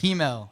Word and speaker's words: Himmel: It's pronounced Hemel. It's Hemel. it's kind of a weird pronunciation.